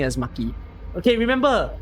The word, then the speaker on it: Maki: been pronouncing it as Maki okay remember makiro makiro hey think of her as a freaking piece of sushi she is Sushi Maki so yeah I I